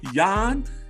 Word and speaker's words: Jan: and it is the polish powerhouse yawn you got to say it right young it's time to start pronouncing it the correct way the polish powerhouse i